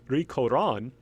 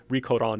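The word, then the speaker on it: Ri Kōran: And the name she's usually known as Rico Don, that is the Japanese pronunciation of Li Xianglan.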